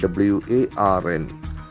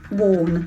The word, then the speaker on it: warn: Want is a very interesting word, W-A-R-N. We see the pronunciation of that. It has got an O sound. Warn. Warn. The letter is A, but it has got O sound.